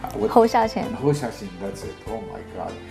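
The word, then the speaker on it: 侯孝贤: I don't know how to pronounce it. Xing Xiao Hao. Hou Xiaoqian. Hou Xiaoqian, that's it.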